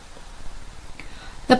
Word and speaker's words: 他: meaning his name is let's say together Again, the person radical T means he or him.